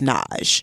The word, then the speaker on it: Nagy: It's spelled Nagy, Nagy, but it's pronounced Naj.